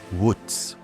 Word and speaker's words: Wootz: The steel itself was called uku. When European traders encountered it, they wrote the word phonetically. It became Wootz.